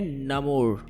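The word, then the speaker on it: Namor: तो, इस लिहाज से उसका नाम नमोरा है, लेकिन मार्वल ने हमें उसे नमोरा ही बुलाने को कहा है। तो, आज के इस वीडियो में , मैं इसका उच्चारण नमोर की तरह करूंगा। सच कहूँ तो, जब मैंने फिल्म देखी, तो मैं उसे " नेमर, नेमर" कहकर पुकार रहा था।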